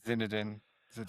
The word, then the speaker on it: Zidane: Or like, how do you pronounce his name, John? Zinedine? Zidane.